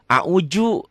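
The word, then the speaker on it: أعوذ: saya termasuk dulu begitu Audzubillah bukan orang Betawi a'udzu gini dibacanya daltu jadi Zai bukan bukan rapuh bukan keras tapi sedang lele lailil tobat paling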